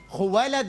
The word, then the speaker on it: خویلد: خویلد اس کا صحیح تلفظ ہے.